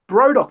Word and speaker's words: Brodock: Brodock. That's like Modoc, but spelt with bro.